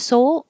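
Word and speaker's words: Seoul: Whether it's this kind of soul, like bless your soul, or Soul Korea, Americans pronounce these exactly the same.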